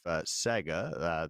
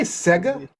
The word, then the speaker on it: Sega: It was with Amplitude Studios, who is part of Sega, the gaming company. Oh. And they Did you say Sega?